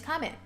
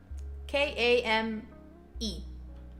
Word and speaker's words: Kame: But yeah, this time is ideal for me because this is usually when my name's Kame. K-A-M-E. Kame. My handle, however, is. Kame is kind of not easy to pronounce.